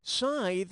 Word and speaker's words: scythe: Scythe rhymes with tithe.